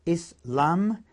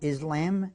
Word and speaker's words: Islam: lot of English then there's Islam which is pronounced is Lum not Islam Islam and the last one that we have